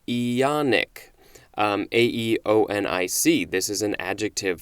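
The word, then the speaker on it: aeonic: today is ionian a-e-o-n-i-a-n it also says or ionic ionic a-e-o-n-i-c this is an adjective from 1765 lasting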